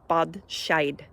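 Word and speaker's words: bean sí: aware of um so the word Banshee in Irish is pronounced uh bad sh and um it literally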